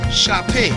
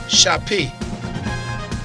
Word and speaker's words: Chapé: Chapé. C H A P E, pronounced as A. Chapé.